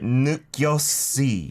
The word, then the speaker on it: 느꼈지: So the shiod She at the said bottom 느꼈지? here. Yeah, it's not pronounced as the S because there's not an iung next to it, right?